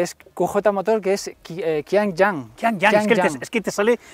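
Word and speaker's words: Qianjiang: Que serían las King Yang. ¿Tú lo pronuncias mejor? Bueno, es porque es QJ Motor, que es Qiangyang.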